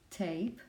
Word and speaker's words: tape: The same happens with tape. You don't pronounce this as silent letter, and you say the name of letter, A.